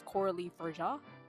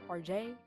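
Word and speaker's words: Coralie Fargeat: It's Coralie Farjay, not Farjay.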